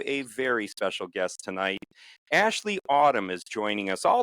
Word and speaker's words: Aisley: the schedule it was asley asley ay that's not right you spell your name a i s l e y but it's pronounced Ashley can you tell us